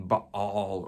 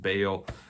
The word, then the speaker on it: Baal: There's this showdown between Baal, or you might have heard it pronounced Baal.